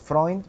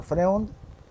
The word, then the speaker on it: Freund: En alemán es Freund, pero aquí, bueno, se le pronuncia Freund.